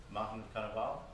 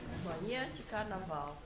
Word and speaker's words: Manhã de Carnaval: Can you help me with a pronunciation? Morning of the Carnival, how do we say it? Mountain Carnival? No? All right. Manhã de Carnaval.